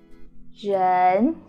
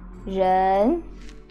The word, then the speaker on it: 人: So the initial sound is zh, okay? Your tongue curl and your lips like this and your tongue curls like that, okay? Zh, okay. En is n sound like n.